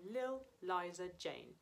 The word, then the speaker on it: Li'l Liza Jane: We're talking about a small girl called Eliza Jane, but we shorten the word little to Lil, so it's only one syllable. And instead of Eliza, we say Liza. So we have Lil Liza Jane.